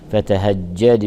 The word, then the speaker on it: فتهجد: نعطيها رخاوتها فنقول الليل فتهجد فتهجد فتهجد يراعى ترقيق الفاء وترقيق التاء وترقيق الهاء وترقيق الجيم وضغط الجيم المشدده لكي يظهر انها حرفان وليست حرفا واحدا فنقول فتهجى فتهجد به الدال حرف قلقله